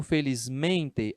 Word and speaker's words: felizmente: Só que quando eu pronuncio felizmente, a sílaba tônica é essa.